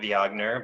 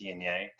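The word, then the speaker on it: Viognier: dna um it's not my mom always calls it viagner but you know the g is silent it is dna and um it's a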